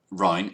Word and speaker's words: Rhine: Rhine five dollars Canadian saying Rhine is pronounced rhyme like the Rhineland I'd really like a